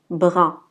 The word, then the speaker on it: bras: Remarquez que la lettre S à la fin, on ne la prononce pas. C'est une lettre muette. Donc on dit bras.